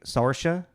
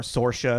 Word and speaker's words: Saoirse: watched the thing of her explaining how to pronounce it it's like sorha okay and uh or sorha if you want to it's as closely to